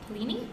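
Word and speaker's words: Paolini: in June was fractal Noise by Christopher Pini Pini that's how you say it I've never heard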